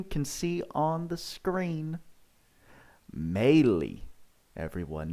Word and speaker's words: Mayly: on who you can see on the screen melee everyone not may lie i'm here i'm sorry i'm here to correct you all on how to say it uh melee is actually the proper pronunciation tweaks i don't